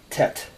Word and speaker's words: Tet: just made a perfect Tet some people spell it TI t EIT but it's tet and you've just made